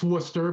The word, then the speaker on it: Worcester: It is Worcester, right? Did I pronounce it? It's Worcester, but close enough.